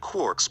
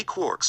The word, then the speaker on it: quark: from james joyce three quarks for muster mark the word quark is supposed to be pronounced like quart but with a k at the end instead of a t but is usually pronounced